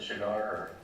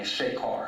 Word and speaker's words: Shekar: How do you pronounce it? Shigar or? It's a Sagar and a Shekar.